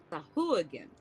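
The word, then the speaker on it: sahuagin: that goes to also the pronunciation of the underwater fish is sahagan sah again like H again I like that I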